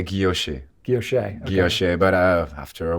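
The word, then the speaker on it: guilloché: It's a French term. Is it guilloche? Yes, or guilloche? Because I hear it pronounced both. Normally, we say guilloche.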